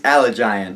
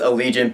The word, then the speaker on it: Allegiant: the DI virgin series allig giant okay I know it's pronounced allegion but I can't look at that title and not see allig giant I don't know it's